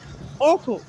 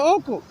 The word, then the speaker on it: Hochul: So now that I'm experiencing xenophobia attack, I named Governor, I'm sorry to mispronounce him, I think her name is pronounced Hochul, Governor Hochul.